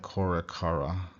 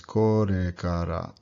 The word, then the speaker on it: korekara: So this word korekara does not sound like korekara. Sounds horrible like that. It's korekara. Your tongue is just tapping there.